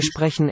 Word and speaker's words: sprechen: Wir sprechen Englisch. Sprechen. Note that it's not really an N in these final syllables. They're unstressed and the vowel weakens.